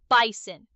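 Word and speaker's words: Bizon: Yes, it's spelled B I Z O N, but it's pronounced like the animal bison.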